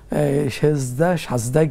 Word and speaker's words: সাজদা: সুতরাং সাজদায় গিয়ে, সঠিক উচ্চারণ তো সাজদা, তো সাজদায় গিয়ে সাজদার তাসবিহ পড়ার পরে আমরা পড়বো ইনশাআল্লাহ।